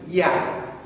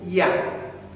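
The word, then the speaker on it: ja: this is different but in German you see that this one is pronounced like a y so the first one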